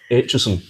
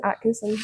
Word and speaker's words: Aitcheson: Hello, my name is Hutchinson. Oh, is that how it's pronounced? I've been saying it wrong so I've been saying Atkinson. Atkinson every taxi driver, teacher